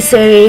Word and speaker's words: Siri: Sia is the correct English pronunciation. Lady Siri, however, was named in Denmark, so the E is pronounced.